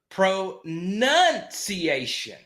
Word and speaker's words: pronunciation: Pronunciation. Pronounce can't go to pronounce. It's pronounce. So pronunciation. So then it goes pronunciation.